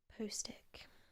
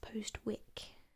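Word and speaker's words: Postwick: assumed that it's pronounced post wick because it's got a w but in gallerian we don't actually pronounce the w in place names um so there's you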